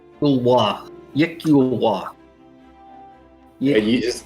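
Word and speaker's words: iklwa: It's Yikulwa. Yeah, you just, how do you spell it?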